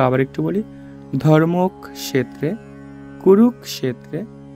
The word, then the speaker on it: ধর্মক্ষেত্রে: বিষাদিও গাহা প্রথম শ্লোকটি বলেছেন ধৃতরাষ্ট্র ধৃতরাষ্ট্র উবাচ ধর্ম ক্ষেত্রে আমরা জানি কি ক থাকলে ক যোগ মূর্ধন্য সহ এজন্য উচ্চারণটা হবে ধর্মক্রে কুরুক ক্ষেত্রে সমবেতা দন্তস থাকলে